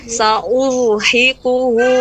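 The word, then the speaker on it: سأرهقه: Nah, ra dibaca dengan tebal. Nah, monyong sedikit ketika mau mengucapkan dhammahnya, hamzah. Urhiquhu. Sa tajam namun tebal. Sa'uda. Nah. Ya, baik. Sa'urhiquhu sa'uda. Ya, hi besar, jangan ha kecil. Sa'urhiquhu sa'uda. Sekali lagi, Ibu.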